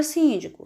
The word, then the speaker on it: síndico: Na palavra síndico, síndico, nós temos a sílaba mais forte, sim, síndico.